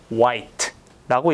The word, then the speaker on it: white: 예를 들어서 우리가 화이트, 색상이죠. 흰색, 화이트 블랙 할 때 그때 화이트라고 읽는데 이것은 사실은 white라고 읽어주셔야 돼요.